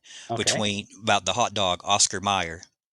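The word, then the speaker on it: Oscar Mayer: Or excuse me, it's pronounced Meyer, Oscar Meyer, but it's spelled like John Mayer.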